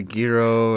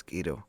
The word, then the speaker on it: gyro: on guys yeah we'd go out get a gyro or go out and have like you know